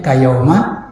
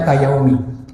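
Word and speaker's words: كَيَوْمَ: Maka bacanya kayauma, nggak sedikit orang baca kayaumi.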